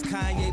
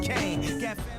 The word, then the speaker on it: Kanye: Now all I need is y'all to pronounce my name is Kanye, but some of my plastics still say Kane. Kanye Omari West has officially changed his name.